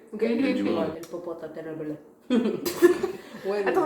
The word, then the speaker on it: Popocatépetl: coup, c'est pas un tel, c'est genre en espagnol ce serait un tel, mais particulièrement ça se prononce Popocatépetl.